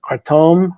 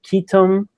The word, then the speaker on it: ketum: who you talk to if you're talking to someone in Thailand or Malaysia or Indonesia or southeast Asia where it's commonly used uh you'll hear it called uh katom or ketum or uh katum and so we we